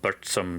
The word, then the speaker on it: Burzum: At number 4, for $311 from Norway, we have Burzum, or Burzum if you want to say it like Varg does.